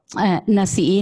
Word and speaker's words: Nasi'i: Nasi'i, Nachinche, Nasi'i. Nasi'i son las mujeres. That's how she's telling us how the name is pronounced in Mixteco, mm-hmm.